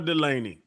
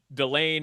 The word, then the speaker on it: Delane: of research on this because it's spelled Delane, the LSU cornerback. And I thought it was Delane. Yeah, I thought it was Delane or Delaney. His name is Mansour Delane. That's how the LSU broadcasters and the CBS broadcasters were pronouncing it all season.